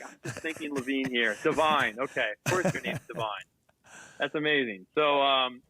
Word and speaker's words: Devine: and so your mistake earlier i said his name wrong i never met him before and i was like josh devine how are you great to meet you thanks